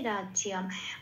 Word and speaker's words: রাজ্যং: আচ্ছা, তারপরের লাইনে শেষ লাইনে চলে আসি, রাজ্যং অনুস্বর আছে শেষে, 5 নম্বরে তালিকাভুক্ত করে দেওয়া আছে, ময় হসন্ত হিসেবে এখানে উচ্চারিত হবে রাজ্যম।